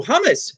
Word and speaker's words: hummus: I go, "Oh, hummus." She goes, "You Americans don't know how to pronounce it. Hummus, hummus."